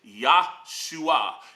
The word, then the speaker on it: Yahshua: Many occasions when that word is used, it is enunciated or pronunciated Yahshua. It's the same English equivalent to the name Joshua. Yahshua.